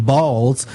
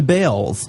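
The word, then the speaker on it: Baals: After all, the family did change the pronunciation of their last name from Balls to Bells.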